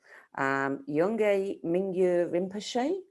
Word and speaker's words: Yongey Mingyur Rinpoche: Now, there's different ways of pronouncing the name of the author. Yongey Mingyur Rinpoche? I guess it's correct, yes. Yeah.